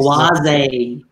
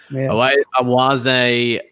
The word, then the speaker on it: Oase: But I did find Oasi. Is it Oasi? Is that how you say it? Or Oasi? Oase. Jeez. Oase.